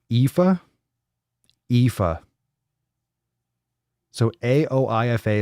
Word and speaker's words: Aoife: about it I'm capital it's pronounced Eva Eva so a OIF a is pronounced Aoife